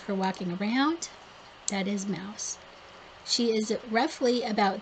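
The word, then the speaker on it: Maus: This is Mouse, you guys. And it's spelled M-A-U-S, Mouse.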